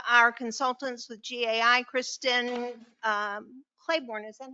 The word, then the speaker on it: Claiborne: Tonight we have our consultants with GAI, Kristen Claiborne. Is that how you say it? Claiborne.